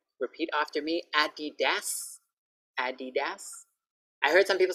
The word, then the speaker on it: Adidas: Repeat after me, Adidas, Adidas.